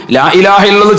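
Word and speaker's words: لا إله إلا الله: അറഹ്മാനിയും ഹാവും അതിന്റെ ഉച്ചാരണങ്ങളും ലാ ഇലാഹ ഇല്ലല്ലാഹ് ചൊല്ലുമ്പോൾ കൂടുതൽ ആളുകളും പിഴപ്പിക്കുന്നതാണ് ലാ ഇലാഹ ഇല്ലല്ലാഹു ലാ ഇലാഹ ഇല്ലല്ലാഹ് ഇല്ലല്ലാഹ് ഇല്ലല്ലാഹ് ഇങ്ങനെ അലിഫും ഹാവും ഇല്ലാതെ ഇല്ലല്ലാഹ് ഇല്ലല്ലാഹ് എന്ന് പറഞ്ഞിട്ട് പിഴപ്പിക്കുന്നവരുണ്ട് പിഴവായ രൂപത്തിൽ നമ്മൾ അത്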